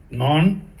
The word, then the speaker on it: non: Non, je n'ai pas. And pardon, for no, you don't pronounce the last N. It sounds like the no as in English.